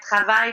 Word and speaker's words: travail: So something like travail, they want to put the accent on the second, and they kind of downgrade their pronunciation on the first syllable.